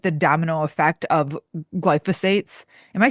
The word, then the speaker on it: glyphosate: So while we're on the track of like food, can we talk about like the domino effect of glyphosates?